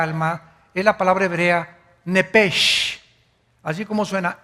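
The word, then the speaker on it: נפש: Biblia esa palabra alma es la palabra hebrea nepes así como suena n e p e s h nepes la palabra la letra o las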